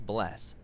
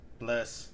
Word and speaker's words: bless: hello in Icelandic is pronounced Hollow thank you is talk yes is yeah no is nay goodbye is bless bless 14.